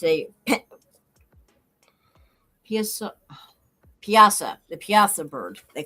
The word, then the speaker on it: Piasa: This bird, which actually is a pterodactyl type bird that the yeah, Native Americans had to fight, and it's a piasa, the piasa bird they call it.